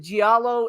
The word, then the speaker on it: giallo: Is it giallo? Is it giallo? How do you actually pronounce it? Giallo. Giallo. So do you pronounce the I or you don't pronounce the I? It kind of runs together.